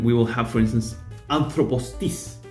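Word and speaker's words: ἄνθρωπός τις: will have, for instance, anthropos tis. And here anthropos has two acute accents, but notice that there's a syllable in between. So there's no conflict with having two acute accents within a word as long as those two accents do not come in consecutive syllables.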